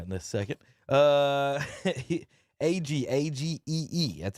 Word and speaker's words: AG: AGEE.